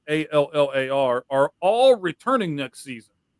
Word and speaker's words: Allar: Penn State running backs Katron Allen, and Nick Singleton, plus quarterback Drew Allar, I believe Allar is how you pronounce it, Allar, are all returning next season.